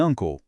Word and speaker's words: uncle: Em Uncle, o som no começo é de an e não de u.